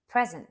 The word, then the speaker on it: present: at some of them present stressed on a first syllable is a noun and it means a